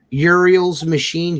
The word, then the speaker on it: Uriel's Machine: Uriel's Machine, URIELS apostrophe S.